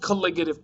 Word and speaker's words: colligative: this whole part of the unit is called colligative properties that's how that's pronounced um you don't really need to know